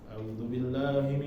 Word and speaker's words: أعوذ بالله: A'udzubillahi usahakan ketika bacanya A-nya jelas. A baru pindah ke a'u.